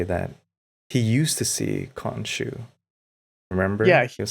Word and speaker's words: Khonshu: Konshan, Khonshu. Khonshu. Yep. Welcome to Nerd Cassette, where we don't know how to pronounce names that we've seen more than once.